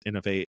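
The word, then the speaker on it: Inov-8: Innovate is INOV and then the number 8.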